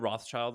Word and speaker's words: Rothschild: Rothschild is?